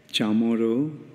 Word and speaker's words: chamor: Chamoro is, it's all right, it's chamor.